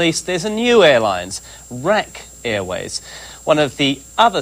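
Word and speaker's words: RAK: to pronounce that right is it Rack or is it R it's rack Airways um Andrews but like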